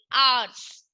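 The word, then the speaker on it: hours: Honest, honest मतलब ईमानदार, तो इसमें एच क्या है, दोनों वर्ड में साइलेंट है, तो इससे पहले भी क्या यूज होगा, एन यूज होगा।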